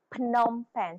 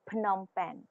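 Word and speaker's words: Phnom Penh: pen or phenomen or how do you say that locally it's p it's pom pen so they they kind of pronounce the in the AG so pomen pomen pronunciation yesal School Liberty International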